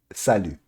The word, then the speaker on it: Salut: okay, so hello would be salut.